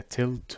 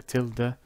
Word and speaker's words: tilde: what this operator is it is known as the tilde or the tilde or the tilde i have heard all three pronunciations no one truly knows